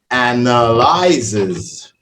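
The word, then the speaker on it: analyses: get it right because all you do is add the S and it changes the whole thing.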